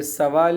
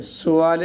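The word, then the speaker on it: سؤال: مصدر ورب ہے، سوال، یہ سوال نہیں ہے، یہ سوال ہے، سین کے پیش کے ساتھ، سوال اصل تلفظ۔ تو اس کے علاوہ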